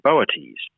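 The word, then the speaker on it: Boötes: is the brighest star in the constellation of boates that's not a constellation most people are familiar with boates it's spelled b t and it means the herdsman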